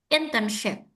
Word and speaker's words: internship: Yang pertama adalah tekanannya di kata awal internship. Internship. Oke, very good. Now, for this one, ini kan S ya, Ibu ya. Tapi sebenarnya cara bacanya itu bukan S yang tipis, tapi S yang tebal, like shin, Oh, like shuh gitu. So it's not in internship, but internship.